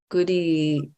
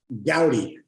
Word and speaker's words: Goudie: like an an goody you know on inner inquiry gouty did I mispronounce your name oh my gosh what is it everybody mispronounces it gouty gout okay scouty inner